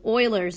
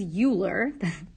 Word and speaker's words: Euler: a log base e and e refers to euler's number yes even though it looks like it says euler that man's name is pronounced euler so euler's number e and when